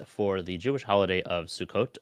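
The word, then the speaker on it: Sukkot: the Jewish holiday of sukot or sukus for the English sized pronunciation there and uh visiting some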